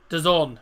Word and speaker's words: DAZN: is it Dazn or Dazon? Dazon, I believe it's pronounced.